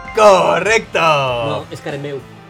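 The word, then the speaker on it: Karembeu: Cristian Carambé. ¡Correcto! No, es Carambeu. Carambeu. Así se pronuncia en castellano.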